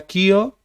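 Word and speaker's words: Keogh: Acá Ricardo Foster dice, se pronuncia Kio, era mi tío bisabuelo.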